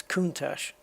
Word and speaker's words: Countach: you pronounce it and the official pronunciation i have found is countach so in case you were wondering it's kuntas don't let anyone tell you different yeah uh right i